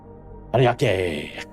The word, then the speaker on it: Ariake: Pronounce it like it's Japanese. Ariake.